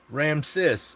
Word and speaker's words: Ramses: All right, Ramsis. Let Okay. Is it Ramsy? Put one for Ramsay, two for Ramsis. I want to pronounce your name correctly. Ram sis.